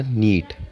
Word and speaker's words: knit: 9 point है हमारा नीट। अच्छे से KNIT, इसमें के साइलेंट।